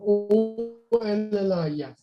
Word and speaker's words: OLLIF: We call it OLLIF, but OLLIF is the official title of that. The abbreviation stands for Oblique, Lateral Posterior, Lumbar Interbody Fusion, or OLLIF.